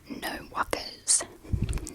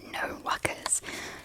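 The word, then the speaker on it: no wuckas: No walkers. So that's two words. So that's a no as in you know n o and then wuckers which I believe is spelled w u c k a s.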